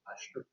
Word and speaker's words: Leicester: It looks like Gloucester, but it's pronounced Leicester.